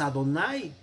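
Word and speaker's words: אדני: prefijadas en este sentido la pronunciación de aleph se ha perdido entonces que decimos no decimos ver elohim sino simplemente ven los elohim que los heene se alarga la vocal verdad y a quien no decimos bueno no decimos errores simplemente pronunciamos adonay por eso aquí tiene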